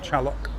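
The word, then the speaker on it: Xaloc: X is pronounced like a ch, so it's called Chalok. Gary.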